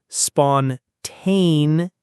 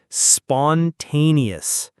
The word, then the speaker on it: spontaneous: Spontaneous. The stress is on the second syllable. Repeat after me. Spontaneous.